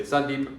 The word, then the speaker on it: Sandeep: student like sandeep and i might say sandeep and i'll stress the second so a little bit sandeep told me that his parents say sundeep you know both of them are stressed the same every single time and occasionally um particularly